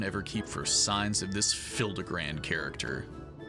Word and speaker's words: Hildibrand: Since parting ways, I've searched every alley and dive bar in Everkeep for signs of this Hildibrand character. It's pronounced Hildibrand.